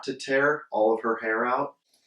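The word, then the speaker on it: tare: Pronounce that tear? Tear? Mm-hmm. Tear? Mm-hmm. Tear.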